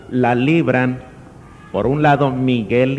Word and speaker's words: Miguel: Miguel recordemos muy bien para que podamos pronunciarlo no con el el anglicismo que hay veces verdad Mike le decimos Mike cuál Mike Miguel es Miguel Quién como dios es